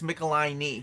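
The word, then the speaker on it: Michelinie: I think it's Michelini because he said it's like your knee.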